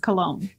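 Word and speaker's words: Colón: Daniel Colon! 46. It's probably Colon. Colon? It's spelled C-O-L-O-N. That's a Hispanic surname, and I'm pretty sure it's pronounced Cologne.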